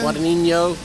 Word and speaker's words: Guadagnino: Guadagnino.